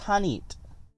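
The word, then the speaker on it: H'aanit: It would, I guess, just be learning to pronounce it. It is Hanit.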